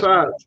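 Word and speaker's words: tsade: It's Taz. It's like Tazah, not Tazah, but it makes it's like a Z sound.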